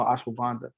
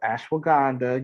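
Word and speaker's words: ashwagandha: know anything about te I never heard about no ashanda and you was like like no it's ashw Ganda you have to say it correctly especially if you're going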